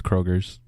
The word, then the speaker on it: Kroger: Walgreens where but Kroger's is it Kroger's or Kroger it's Kroger but everybody says Kroger's Prager's the placebo effect